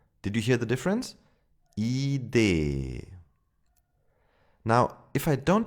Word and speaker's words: Idee: Idee. First a long I, then a long E. Did you hear the difference? Idee.